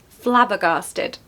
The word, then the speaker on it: flabbergasted: a schwa flabber garsted so we want a long a at the end Gar so Flubber gasted flabbergasted number eight is dandelion